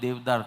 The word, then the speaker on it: Deodar: And Deodar trees, We pronounce it 'Devdar', you might be pronouncing it 'Deodar'.